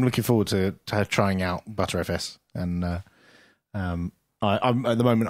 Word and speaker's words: Btrfs: Now, I don't know if it's actually pronounced BTRFS because I don't use it. ButterFS. Yeah, is it ButterFS? He says ButterFS throughout.